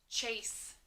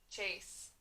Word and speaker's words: chase: every after wonderful thank you okay first word chase your turn cha a s chase ch says a blank e says a long a ch s says chuck ace chase next word shape your turn a puff shape